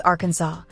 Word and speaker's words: Arkansas: For starters, it's legally required to pronounce the state's name as Arkansas, a rule actually enshrined in an 1881 state resolution to preserve its historical French pronunciation.